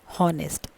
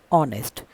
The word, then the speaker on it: honest: For example, this word honest is not pronounced as honest. It is pronounced as honest. So it is giving a sound of vowel. So we use an with honest.